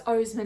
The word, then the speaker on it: Oseman: This is probably my favorite it's Oseman, isn't it? I've been saying it wrong. Alice Oseman book, and I just really love Aled and I love Aled's story and I love Frances.